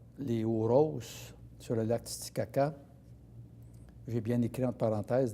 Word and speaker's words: Titicaca: quand on va voir les Huros sur le lac Titicaca, j'ai bien écrit entre parenthèses, d'ailleurs, que notre guide nous avait dit qu'il fallait prononcer Titihaha.